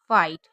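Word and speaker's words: fight: लाइट, राइट, side और जैसे फाइट, यहाँ पर भी जीएच साइलेंट है।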